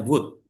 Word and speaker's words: would: Terus ini bajanya wood. W. Jadi L-nya hilang jadi wood gitu.